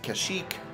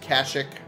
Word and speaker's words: Kashyyyk: to Kashyyyk Kashuk Kashyyyk the pronunciation of the planet has never been standardized in any of these ever some sources pronounce it Kashyyyk others Kashuk either way on